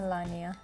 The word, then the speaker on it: Melania: How do you pronounce his wife? Melania. Melania, right.